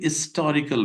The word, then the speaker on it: historical: comparison we cannot say historical building no here H is accented it is not mute it is pronounced very well a historical building this is a historical